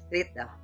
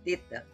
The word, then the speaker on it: theta: Na verdade seria theta, imprensando a língua entre os dentes, como na palavra thing, em inglês.